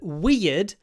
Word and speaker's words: weird: idea right idea and that's the sound in weird and beard so weird it's not difficult to